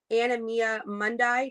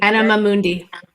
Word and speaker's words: Anima Mundi: Anemia mundi. Did I say that right? Anemia mundi. Anima Mundi. There we go.